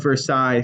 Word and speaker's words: Versailles: King Louis will be the one who actually builds the Palace of Versailles, similar to the word Illinois. In Versailles, you don't pronounce the S at the end. Palace of Versailles, that's going to come